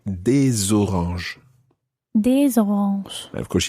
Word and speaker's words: des oranges: And if it's some oranges, then you would say des oranges. Des oranges. And of course, you pronounce the S of des because it's followed by a vowel.